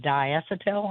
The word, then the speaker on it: diacetyl: that is uh I don't know how you pronounce it, diacetyl, I think is how you say it.